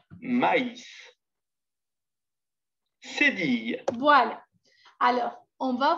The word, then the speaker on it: maïs: Mais, M-A-I-S, se prononce mais. Maïs, M. C'est qu'on avait dit mais ou A, I, tréma, S, se prononce maïs. On prononce le I séparément. On dit donc maïs.